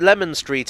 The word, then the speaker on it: Leman Street: the hidden London website both pronunciations are used but Lemon Street is more common locally I did discover that